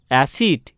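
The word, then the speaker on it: acid: তারপরে দেখো এ সি আই ডি, অ্যাসিড। এখানে দেখতে পাচ্ছি সি এর পরে আই আছে, তাই এখানে সি এর উচ্চারণ দন্তস্ব হলো, বোঝা গেল।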